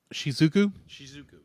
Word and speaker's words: Shizuku: And it's just done beautifully, because you have so many scenes where our main character, how do you pronounce her name again? Shizuku.